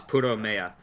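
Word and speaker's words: プロメア: The Japanese pronunciation is Puromea.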